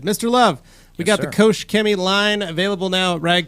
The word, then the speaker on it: Koch-Chemie: Koch-Chemie. That was good. That's how you say it. Koch-Chemie.